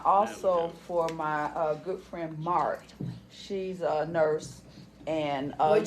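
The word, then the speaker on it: Marthe: And then I also, for my good friend Mart, she's a nurse. And What'd you say? Mart. It's spelled M-A-R-T-H-E.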